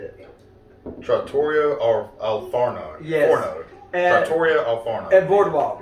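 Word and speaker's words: Trattoria al Forno: be now you're gonna have to help me pronounce it you just said it trattorio or alfarno yes at boardwalk it's at the boardwalk resort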